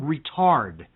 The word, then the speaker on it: retard: Look up the word retard. R-E-T-A-R-D, pronounced retard.